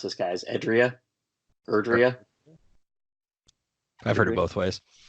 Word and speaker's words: Erdrea: The whole game takes place in, how do we pronounce this, guys? Erdrea? I've heard it both ways. Yeah. So it's Erdrea.